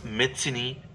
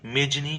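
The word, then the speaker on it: Mazzini: इसे समझने के लिए उन्होंने उस ज्यूसेप मेत्सिनी, यही सही उच्चारण है जिसे बोलचाल में मेजनी कहा जाता है, के कथन का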